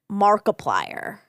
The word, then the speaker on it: Markiplier: Okay, number four is Mark Fischbach, aka Markiplier. Ooh, like multiply.